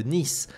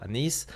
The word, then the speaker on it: Neith: nous allons parler de nice alors ça dépend de la prononciation d'un qui disent pas comme ça mais c'est vrai que j'ai pris l'habitude de dire ceux de dernis donc je dis toujours nice c'est un personnage qui